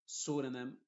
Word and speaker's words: pseudonym: Y en palabras que empiezan con PS, la P es muda y la S suena como S. Por ejemplo, psychic, psychology, ¿qué más? Pseudonym, psoriasis, pseudo, pseudoscience. ¿Te das cuenta? En ese contexto la P es muda y la S es la que se está pronunciando.